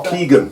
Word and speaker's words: Keegan: I think I'm pronounced that wrong, mate. Oh, Keegan. John Keegan. John Keegan.